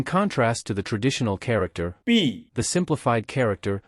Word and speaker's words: 毕: its phonetic similarity to B, and its minimum strokes. However, B, is the third tone, while B, is the fourth tone, so they are not entirely the same in pronunciation.